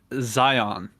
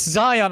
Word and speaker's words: Zion: It's Zion. I already told you it's Zion. And if I'm wrong, then who cares? I'm wrong. It's Zion.